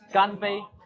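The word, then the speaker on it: 干杯: Ganpei. Ganpei. Oh, it's like Japan where they say kanpai. Yeah. Kanpei. Ganpei.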